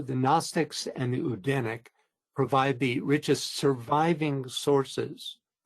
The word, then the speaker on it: Odin: The word Odinic refers to the Scandinavian god Odin, which is actually pronounced not Odin, which we normally pronounce, but Odin in the Northern European languages, in the original Norse.